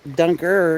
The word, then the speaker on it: Dunker: and then this says dunkard church but then dunker is how they pronounced it or that's what